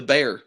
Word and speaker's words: Bexar: I guess it's technically Bear because that's how you pronounce the place in Texas.